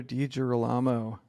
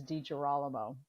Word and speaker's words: DiGirolamo: now on to the podcast all right Dr dijir Alamo um did I even come close Carla to